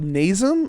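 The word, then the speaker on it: Nasum: uh i we i think we call it nazem is that nice n-a-s-u-m right yeah okay okay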